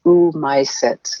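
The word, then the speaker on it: Oomycetes: fungi kingdom anymore they're called ooh my sets and that's spelled with two o's in a row o o m y c e t e s i think uh um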